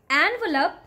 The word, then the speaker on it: envelope: Okay, so don't call it envelope. The correct way to say this word is envelope. Envelope. Lope is there.